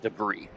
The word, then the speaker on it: debris: actually supposed to be it's the french pronunciation debris oh debris yep it's always debris now in and that's in the americanized english in the british english it's debris instead of debris okay but parker behind